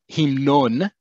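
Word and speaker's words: המנון: So if I want to say the national anthem, himnon, is anthem, sounds like the word hymn, because it is a loan word from other languages.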